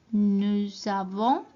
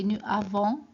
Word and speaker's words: nous avons: We don't say nous avons. It doesn't sound right. It's something called like liaison in French. So in certain situations you have to put two words together to pronounce it like these ones. I've got a consonant and a vowel, so we put it together like nous avons.